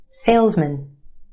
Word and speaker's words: salesman: For example, take the word M-A-N, man, man. Put it in this word and it becomes mun, mun. Salesman, salesman.